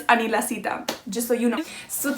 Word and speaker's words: Anila Sita: say my name it's anila sita that's how you say it or anila sita if you want to say it with like an americanized accent but it's anila sita just so you know